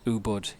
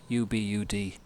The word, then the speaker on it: Ubud: I'm staying just outside a town called, I think pronounced Ubud, Ubud.